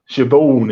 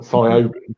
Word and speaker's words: Siobhan: Like Siobhan is spelled Siobhan, so not Siobhan, it's Siobhan. Oh, wow.